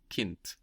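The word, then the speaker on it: Kind: word child Kint Kint again k i n d but we hear a t Kint childhood is Kint height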